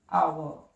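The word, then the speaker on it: hour: तो songs, since, पिछले की इंग्लिश लास्ट, एंड आवर। घंटे की जो प्रोनाउंसिएशन होती है वो आर नहीं होती है, दैट्स आवर।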